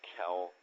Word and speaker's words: Kelle: And it is pronounced Kelle, not Kelly, but a lot of people call me Kelly, so I don't get upset.